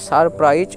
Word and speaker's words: surprise: তাহলে আমরা আরেকবার দেখি, SUR সার, PRI প্রাই, আর SIতে বর্গীয় জ, তাহলে সারপ্রাইজ যার মানে হচ্ছে বিস্ময়।